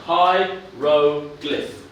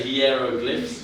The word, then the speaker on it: hieroglyphs: High, like high in the sky. Row, like rowing a boat. And glyph, which isn't a word, but that's the sound. High, row, glyph. But that's how it's spelled, so it's spelled differently. If I was to spell it how it's sound, it'd be hieroglyphs. But you don't say hieroglyphs, you say high, row, glyphs.